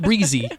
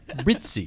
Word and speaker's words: Brizi: Not Brizi, Brizi.